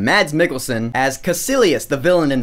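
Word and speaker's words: Mikkelsen: got mads mikkelson yes I learned how to pronounce his last name mads Mickelson as cilus the villain in this film you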